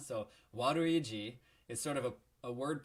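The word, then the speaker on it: ワルイージ: this and that well his name is waduiji and remember how in japanese the l and r sounds are both represented by the rue hiragana or katakana so waduiji is sort of a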